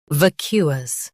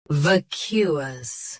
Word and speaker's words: vacuous: Today, we will learn how to pronounce the word shown on the screen. Vacuous. Both US and UK have the same pronunciation of this word. Stress. Q. Keep us soft and quick. Vacuous.